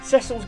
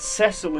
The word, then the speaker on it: Cecil: which, by the way, that's actually how his name's pronounced. I've heard a lot of people call him Cecil, which is pronunciation I've not really heard before for the name Cecil, but the DS version does actually say that his name is Cecil.